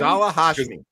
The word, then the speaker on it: Ghazala Hashmi: How do you pronounce this person's name? Ghazala Hashmi.